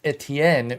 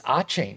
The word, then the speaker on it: Etienne: It's in relation to Travis, who you may know as Etienne. You may have been saying it like that, but it's Achane. It's actually the same pronunciation as Devon Achane, spelled vastly differently.